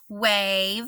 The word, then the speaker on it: wave: is our base word wave I'm gonna cross out that e it tells the a to say its name I'm gonna scoop my